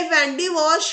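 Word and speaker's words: Wandiwash: ये वैंडी वॉश या वंदावसी जो कि तमिलनाडु में है, लेकिन उसका प्रोनाउंसिएशन यूरोपियंस के जरिए वैंडी वॉश के तौर पर होता है।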